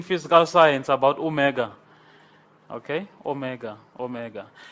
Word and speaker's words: Omega: Omega ok Omega Omega if we have an Omicron this is a short o of Omicron and this is a long oh ooh Omega it's it's long and round but then the Omicron is short and close Omicron o and then